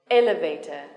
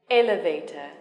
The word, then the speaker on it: elevator: war then three syllables yes the stress is on the first syllable dictionary dictionary complicated complicated elevator elevator ordinary ordinary television television